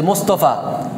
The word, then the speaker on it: মুস্তফা: হ্যাঁ বা মুস্তে যে মোস্তফা, মোস্তফা এই আসলে মোস্তফা না, মুস্তফা, মুস্তফা কেমন, তাহলে এটা হচ্ছে সঠিক।